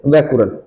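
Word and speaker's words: Becquerel: Gamma और वो से वैकुरल। ठीक है, क्या बनेगा वैकुरल। गामा किरण की खोज किसने की थी, वैकुरल ने की थी। के साइलेंट रहेगा।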